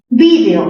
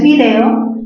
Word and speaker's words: vídeo: Vídeo, que es la forma más recomendada. Vídeo, palabra esdrújula, se tilda, pero si pronuncias video, por ser palabra grave terminada en vocal, no se tilda.